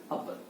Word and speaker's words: a: यानी कि 90% नाउन से पहले जो भी मतलब आर्टिकल आएगा, अ आएगा, उसको क्या, अ बोलिएगा, ए मत बोलिएगा।